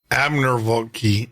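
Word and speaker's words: Abramović: But Marina Abramvaki, or Abramvaki, that's spelled Abramovic.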